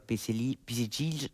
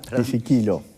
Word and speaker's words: Pisiquilo: momento, que es Pisicillo, ¿cómo se pronuncia? Perdón. Pisiquilo. Pisiquilo.